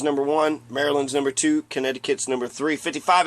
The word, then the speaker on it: Connecticut: Pennsylvania Rhode Island Delaware Connecticut connect connect it cut Connecticut is can connect like you spell it connect c-o-n-n-e-ct it cut connect to cut and connect the cut that's uh that's an